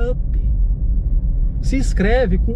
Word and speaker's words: up!: o vendedor fala, não, tem que ser assim, ó, Up, ó, olha como se fala, Up.